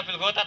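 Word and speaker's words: بِالْغَدَاةِ: Nah kalau sampean tanya, kenapa dibaca bil ghadat ada wawu? Ya karena wawunya kayak lafaz wawu as-shalah, az-zakat. Yaitu ada wawu bukan untuk dibaca, tapi untuk mengenang kalau itu nakis wawi.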